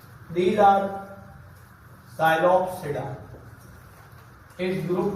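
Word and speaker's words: Psilopsida: साइलोप्सिडा, इसमें P silent, लाइकोप्सिडा, स्फिनोप्सिडा एंड टीरोप्सिडा, इसमें भी पी साइलेंट।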